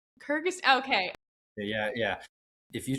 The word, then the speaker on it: Kyrgyz: Kyrgyz. Kyrgyzstan. Kyrgyz. Okay. Yeah, yeah. If you try to spell it, it'll keep autocorrecting to Kurdistan, which is right next to it.